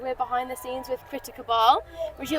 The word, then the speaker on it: Critter Cabal: Well, I pronounce it Critter Cabal.